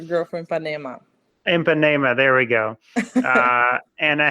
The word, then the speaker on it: Ipanema: the girl from Ipanema, which I butchered the pronunciation. I'm sorry, I can never say that Girl, correctly. girl from Ipanema. Ipanema, there we go.